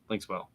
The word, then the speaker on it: Linkswell: It's one word, but it's it's pronounced Linkswell.